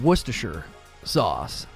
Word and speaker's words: Worcestershire: sorry for distract detracting but how do you pronounce oh worcestershire uh worcestershire sauce yeah that's how i say it worcester worcestershire